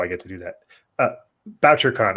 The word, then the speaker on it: Bouchercon: BoucherCon. I always called it BoucherCon. Well, I think I was ButcherCon until I'm like, oh, that's not how you pronounce it.